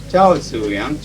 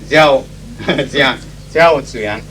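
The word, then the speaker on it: 赵紫阳: And how do you pronounce it? Huh? What? Ciao. Ciao Zuyang. Very difficult. I always thought it was Jiao Zuyang.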